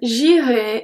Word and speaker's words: j'irai: So the first one, j'irai, is pronounced exactly the same as vous irez. Irez, irez. Because the AI at the end makes the sound E, and the EZ at the end makes the sound E as well. J'irai, vous irez.